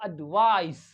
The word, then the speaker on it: advice: एडवाइज क्या पढ़ेंगे एडवाइज यानी जिसके अंदर सी आया है सी है ए डी वी आई सी ई है तो एडवाइस एडवाइस ये जो सी है इसका sound S it sounds like S E sound it sounds